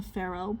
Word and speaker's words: Pharaoh: The Pharaoh. P H A R A O H. Pharaoh. You could just use an H. I mean an F.